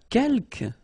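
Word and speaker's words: quelques: the second one uh Kel you don't pronounce the final s here Kel means few okay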